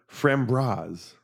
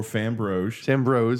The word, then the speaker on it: Framboise: The sour Framboise. Or Framboise. Framboise.